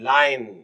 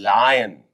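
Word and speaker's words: lion: एल आई ओ एन लाइन कई बच्चे इसको लोइन बोलते हैं इट इ नॉट लोइन दिस इ लायन एल आई ओ एन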